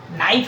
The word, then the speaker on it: knife: नाइफ है तो नाइव्स, के साइलेंट होता है बच्चों।